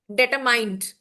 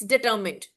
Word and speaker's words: determined: And also, there's a word determined, and I have often seen students, they say determined, which is a wrong Yeah. pronunciation. So just to bring to your notice that determined is no word in English, it's determined.